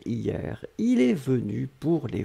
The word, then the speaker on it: hier: Souvenez-vous, on l'écrit avec un H, mais le H est totalement muet. Hier, hier, hier.